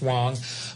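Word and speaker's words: Huang: It's spelled H-U-A-N-G, but it's pronounced Wang.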